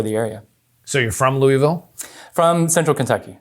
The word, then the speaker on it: Louisville: area so you're from louisville from central kentucky so i said it wrong louisville it's louisville correct right louisville is that better okay all right good